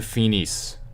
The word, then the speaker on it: finissent: Okay, nous finissons, vous finissez, ils finissent. Okay, so you say finis this time because you remember you don't pronounce the ENT.